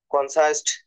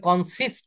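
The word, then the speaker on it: consist: স্যার হুম R family কনসাইস্ট of four member উচ্চারণ বলতে হবে কনসিস্ট অফ কনসিস্ট গঠিত কনসিস্ট অফ তারপর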